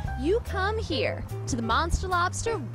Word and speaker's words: Monstah Lobstah: No, it's Monstah Lobstah. Monstah Lobstah. That's the New England accent right there.